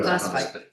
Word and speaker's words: phosphite: 20-0-6 for the Fort Fight, how is that pronounced? Phosphite, yeah. Phosphite.